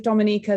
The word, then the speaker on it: Dominica: it is spelled d-o-m-i-n-i-c-a it is not dominican republic it is pronounced dominica and is situated between